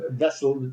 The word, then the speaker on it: Wessel: Wessel Vessel spel spelled with a W sounds like vessel.